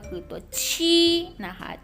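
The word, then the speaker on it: 七: Go นะ มี ตัว นี้ ก็ คือ ตัว ชี้ นะ คะ ค่ะ ชี่ แปล ว่า เสร็จ นะ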